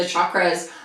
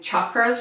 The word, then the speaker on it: chakras: I recently learned that I've been pronouncing chakras wrong. All of my teachers say chakras, and so I'm really trying to make an effort to change my pronunciation, but it's really difficult when for the last 7 or 8 years I've said chakras, and now I'm trying to say chakras.